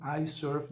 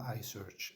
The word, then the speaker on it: iSurf: epic sessions ahead ARA don't get my log my my my brand name wrong ierf doit not I search ierf okay got it Luka